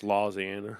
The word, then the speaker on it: Louisiana: It's pronounced Lausiana.